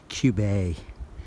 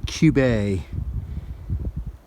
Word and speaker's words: Cube: our view of Mount Cube see ube that pronounced a cube this new hampshire's trying to get fancy on us and call it cube a so mount cube a we are climbing pretty cool I wish they'd